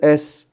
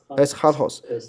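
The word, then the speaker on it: ἔσχατος: 它是一个前弹音哈呵，对不对？所以它是 eschatos 啊 eschatos 它是最后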